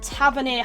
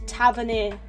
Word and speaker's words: Tavernier: his name wrong, but I think it is James Tavernier. Hopefully I'm right, correct me if I'm wrong, but yeah, I used to call him Tavernier with an R, like TRA, but yeah, no, that's not right.